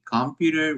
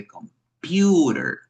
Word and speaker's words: computer: So we don't say computer, we don't say computer, but we say computer. Computer, this is the stressed syllable, you see?